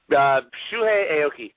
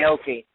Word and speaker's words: Shuhei Aoki: Shuhei Aoki, I believe is how you pronounce it. Aoki.